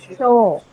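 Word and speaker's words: chore: So, C-H-O-R-E has a long O sound, not a diphthong.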